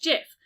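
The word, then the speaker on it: GIF: web illustration declared it should be pronounced jiff like the brand of peanut butter rather than with a hard G sound in Spanish J is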